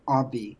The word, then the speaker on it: Obvi: Like obvious, but Obvi.